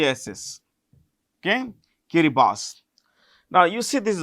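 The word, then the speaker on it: Kiribati: now this was this in a place called kirib boss this is pronounced with Boss B SS okay kirib boss now you see this is Australia New Zealand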